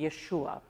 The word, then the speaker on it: Yeshua: teacher and healer named Yeshua or as we might pronounce it Joshua or as a Greek might say it Jesus in his short career